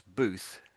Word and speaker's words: booth: So you're making the TH sound like an F. So you're saying booth. It's like a cabin. Yeah, Cabin. that's it. Yeah, it's more like a little cabin. Yes. So it's booth, booth.